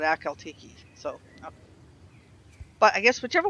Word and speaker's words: Akhal-Teke: way is right because I've heard them pronounce it alt key and i cal tech check something like that I call it a coyote key so but I guess